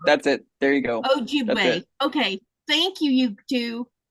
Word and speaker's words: Ojibwe: Ojibwe.